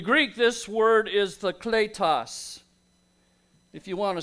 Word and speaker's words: kletos: In the Greek, this word is the kletos. If you want to spell it, it's K-L-E-T-O-S in the English transliteration, kletos.